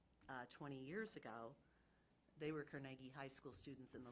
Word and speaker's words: Carnegie: It helps that we're called the Carnegie. Yes. Nobody else can say that, and it is the right way to say it. At least it's the Scottish way of saying it.